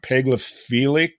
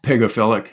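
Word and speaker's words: pagophilic: Pegilic, which means ice living. Is that pronounced right? Pegophilic. Yes. Yeah.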